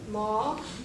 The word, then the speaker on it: ma: Okay, it's a long sound. That's why we also write A there. Okay, because it makes a long A sound. Ma, pa.